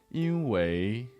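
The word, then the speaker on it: 因为: This specific word, 因为, is often pronounced 因为 with a second tone.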